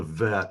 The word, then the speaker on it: Vet: So the pronunciation of the vet is just kind of a softer form of the B. It's V instead of B. Without the dagesh, it is pronounced V as in vine, V.